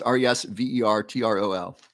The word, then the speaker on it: Resveratrol: you're welcome Karina okay questions about Resveratrol it is spelled how is I think it's resvertol might be a l i don't often spell